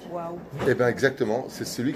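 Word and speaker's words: וָו: Il m'a dit, je peux prouver scientifiquement que la prononciation du Vav, scientifiquement, sans Emouna, par rapport à ça, que la lettre Vav se dit waouh.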